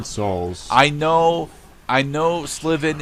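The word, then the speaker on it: Slivan: and then we have sylvan yes i know souls i know i know sliven is how it's pronounced i don't care it's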